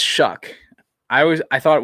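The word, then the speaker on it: Shough: name is s-h-o-u-g-h but it's pronounced shuck like you shuck corn it's pronounced shuck i always i thought it was show cause it's s-h-o-u-g-h but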